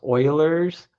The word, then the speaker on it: Euler: It's pronounced Oilers.